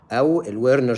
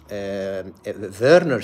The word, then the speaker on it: Werner: Wner syndrome is if we pronounce it um in English but it is verner syndrome because the um this syndrome is named